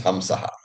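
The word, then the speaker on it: हंसः: When it is not Vedic, it is simply Anuswara. So it becomes Hamsaha, right? So that when you pronounce it not in chanting, it's Hamsaha.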